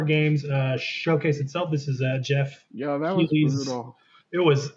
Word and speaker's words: Geoff: Jeff or Joff said Geoff Keighley. Yeah, I don't know how you say it. If he wants to say it's Jeff, I'll say it's Jeff, but it looks like Joff to me.